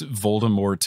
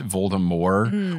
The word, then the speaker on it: Voldemort: same people that pronounce voldemort voldemort which i know that it's french or whatever so the t is silent but look in every